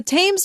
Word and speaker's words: Thames: London is located in southeastern England, on the Thames River (pronounced "tems").